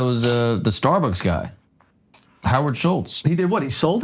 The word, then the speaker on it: Schultz: Schultz. I don't hear the T pronounced, man.